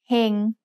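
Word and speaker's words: เฮง: Here's the word heng, which means to be fortunate. Do you know the tone? Heng has a low-class consonant with a live syllable ending, so it's mid-tone.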